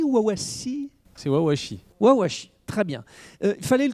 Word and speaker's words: Wawashi: micro monibbe jabala alors déjà sur la prononciation de l'entreprise j'ai entendu une petite prononciation c'est plus wawashi wawasi très bien il fallait